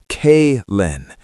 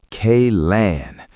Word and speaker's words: Kaylin: My name is Kaylin, pronounced K-Len.